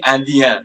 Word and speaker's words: Indien: it's going to be Indien, the first spelling. Okay, Indien, Indien. The N is a nasal, it's not silent. Okay, it's coming from your nose.